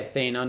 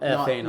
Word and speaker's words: Thena: There's Thena. No, yeah, Thena, not Athena. Not Athena. Thena. No. Drop the A.